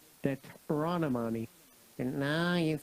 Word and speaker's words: Deuteronomy: Determinary. Not determinary. Deuteronomy.